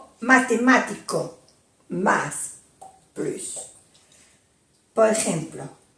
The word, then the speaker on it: plus: No delante de un adjetivo o un adverbo. No se pronuncia la S. Marie est plus jeune que Martine. Marie es más joven que Martine. Il marche plus vite que moi. Elle camina más rápido que yo. Si se pronuncia la S cuando plus de más nombre, le sigue un nombre.